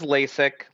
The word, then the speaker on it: Lasek: pronounce it so um it is lasic like the eye surgery um okay it is spelled different um but it is pronounced yeah yeah it is pronounced like it okay great that's good